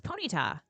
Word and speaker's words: Ponyta: I thought it was Ponyta. Like ponytail.